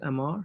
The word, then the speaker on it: Amar: By the way, Yeah, Amar, am I pronouncing your name correct? Is it Amar?